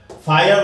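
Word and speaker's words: fire: then फायर, फायर word में are silent है पर ई हटा के हमने आई एन जी प्लस कर दिया, अब यहां पर आर के बाद कोई साउंड नहीं थी, ये लास्ट में था इसलिए आर साइलेंट रह गया, लेकिन यहां पर आर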